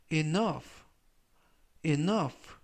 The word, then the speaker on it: enough: 표현은 라고 발음하시면 되겠구요 이때 유의하실 점은 오유 오유는 이중 모음인데요 이중모음으로써 5유가 이번 단어에서는 오 발음이납니다 그리고 끝부분에 있는 gh는 이번 단어에서 F 발음이 나고요 그래서 발음은 it nove 라고 발음하시면 좋겠습니다 품사는 형용사